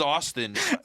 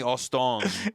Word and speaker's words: Austin: My name is Austin. She's called me aong.